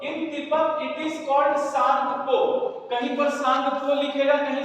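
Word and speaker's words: Tsangpo: In Tibet it is called सांगप। तिब्बत में क्या बोलते हैं इनको? सांग को जी छुट गया लगाने गुड सांगो टी साइलेंट है टी एस ए एन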